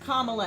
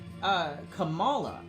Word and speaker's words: Kamala: Justice Sotomayor that just swore in Vice President Kamala Harris, she pronounced Kamala Harris's name wrong. Right? Like, I wasn't the only one. She said, Kamala.